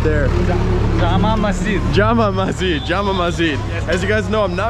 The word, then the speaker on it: Jama Masjid: beautiful places in India here, and that's the Jamu Nazid right there. Jama Masjid.